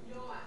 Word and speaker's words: Ulloa: With a J. Joa.